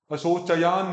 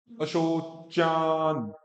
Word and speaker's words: अशोचान: और फिर च और यह तो च, चय नहीं, अशोचयान नहीं, च के बाद में अ नहीं है, चा, अशोचान। ठीक हो रहा, अशोचान।